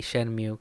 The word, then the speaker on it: Shenmue: Shenmue or Shenmue, you're gonna hear me say that a lot, but I personally say Shenmue because that's the first way I ever pronounced it.